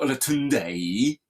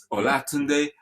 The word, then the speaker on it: Olatunde: And if the accent starts from the left at the top and goes down, then it's a low tone. So so you see the name Olatunde. So it's not Olatunde. Yeah. Olatunde. So that guides you in pronouncing it.